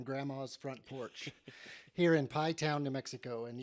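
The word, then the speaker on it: Pie Town: front porch here in pai town new mexico and yes you heard that correctly i'm just outside of pi town new mexico it's spelled just like i said it there p-i-e-t-o-w-n and it's uh one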